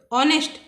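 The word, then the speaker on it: honest: क्या होगा ऑनेस्ट, ऑनेस्ट H silent है इसमें तो इसकी ध्वनि ऑनेस्ट की होगी।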